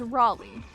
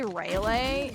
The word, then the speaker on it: Raleigh: Like Sir Walter Raleigh is uh like the guy who did the thing. I've heard people say Ralele and I think THAT'S So the the ending of that is Lee.